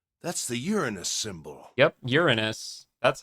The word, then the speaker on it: Uranus: male symbol Uranus that's the Uranus symbol yep Uranus that's how you say it you're you're yeah